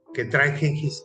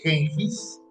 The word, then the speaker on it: Genghis: Porque la verdad, la pronunciación de Genghis se deriva de los historiadores persas, de los que llegaron y dijeron, Genghis, le decían Genghis Khan, y se quedó así.